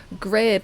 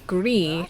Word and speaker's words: Grid: to pronounce that name that name is a Norwegian name and the D is actually silent so it should be gree instead of grid which is very embarrassing